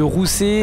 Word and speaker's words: Ruse: Voilà, donc on part donc de Rousset ou Ruse, ça se prononce comme vous voulez.